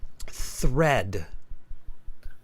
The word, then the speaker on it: thread: features right so um thread thread th spit it out Anita thread thread th thread stick your tongue out th thread thread more thread